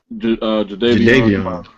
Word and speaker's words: Jadeveon: Jadeveon.